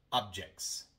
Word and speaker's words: objects: Pero cuando pluralizamos la palabra, agregamos una S. Y ahora tenemos CTS. Una T entre dos consonantes. Y ahora omitimos la T. Objects.